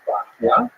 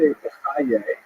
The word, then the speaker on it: Bachya: The customary pronunciation is Bachya, but it's not a regular Hebrew spelling at all. Bachya would be something like Beit Chet, but people say Bachya. Some people also say Bechaye, which is also not exactly right.